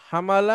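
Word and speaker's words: حاملة: হুম, আচ্ছা, হা মিম লাম, হামালা হামলা ইয়াহমিলু। ইয়াহমেলু। আর এটা হবে ইহতামালা। গুড। ইয়াহ ইহতামিলু। ইয়াহতামিলু। ইয়াহতামিলু। হুম। আচ্ছা, এই দেখেন হামালা ইয়াহমিলু, বহন করা, হ্যাঁ।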